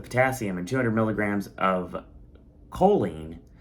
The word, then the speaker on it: choline: and 200 milligrams of choline, which I found out that's how you pronounce it.